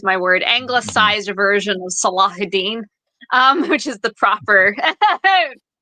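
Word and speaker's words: Salahuddin: Anglo angiz there's my word angiz version of salahudin um which is the proper pronunciation of that um but yeah so basically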